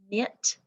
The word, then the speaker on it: knit: Then we have the N spelled with KN, like kneel, knee, knock, knot, knife, knit, and knack, and oh, knit's down there.